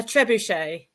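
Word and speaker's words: trebuchet: How do you How do you pronounce it? A trebuche. Oh, trebuche. Oh, is it French?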